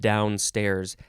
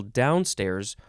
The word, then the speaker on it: downstairs: the third form of downstairs and this one it looks like you can emphasize now you can emphasize the first syllable downstairs or it also looks like you can emphasize both syllables downstairs we gotta go downstairs